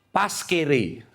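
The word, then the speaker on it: pascere: Bacanya gimana? Paskere.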